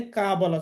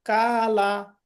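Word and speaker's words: قالوا: তারপরে কফ জবর ক হবে, কা বলা যাবে না। তাহলে আমি যদি বলি কালা, ক্বালা, কালু। ক্বালু। আচ্ছা, কালা কালু এগুলা বলা যাবে না, তাই না?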